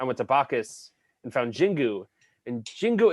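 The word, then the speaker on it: Xingu: And so they had one from Brazil, and it was Jingu. It's spelled with an X, and I was just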